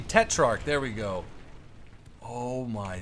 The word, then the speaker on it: Tetrarch: We're on El Alamein with the Tetrarch. I said it wrong. The Tetrarch.